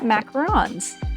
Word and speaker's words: macaron: So, for this hard one, I have decided to try my hands at macarons. Macaroons. Macarons. I think macaroons are something different. I think it's pronounced macaron.